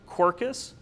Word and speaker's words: Quercus: All right, so this example here is Quercus virginiana, and again we have a two syllable word, so Quercus.